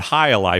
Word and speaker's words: jai alai: right let's talk about high Ali first let's spell it because it it doesn't spell like it sounds it's actually two words hi J Ai and a li a l AI High Ali yeah right so the